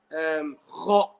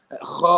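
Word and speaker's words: خ: Even though the makhraj of the letter kha and ghain is adna al-halq. Okay, from the top of my throat.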